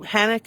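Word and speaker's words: Hanok: So Hanak is, I think, is the pronunciation in Hebrew.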